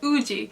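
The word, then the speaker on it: 우지: or actually it's pronounced ooji so woozy is romanized with a z but there are no zeds in korean so when you want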